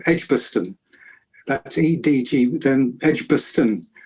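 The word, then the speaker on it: Edgbaston: Birmingham um where I lived uh was called edgebaston that's Ed DG then edgebaston edgebaston edgebaston is a correct pronunciation oh my God yeah no some funny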